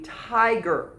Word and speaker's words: tiger: winnie the pooh stories so this is not tigger it's got one g and the i is going to be long and we're going to divide right after so you may divide a word right after the long vowel so it's going to be tiger now i want you